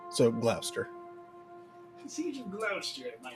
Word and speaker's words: Gloucester: It's spelled Gloucester with a C. So, Gloucester.